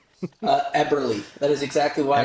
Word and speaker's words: Eberle: Uh Eberly.